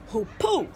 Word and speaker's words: Hoopoe: Hoopoe earlier I apologize I pronounced it wrong I said who be and it's actually poopoo all right Alpine ibex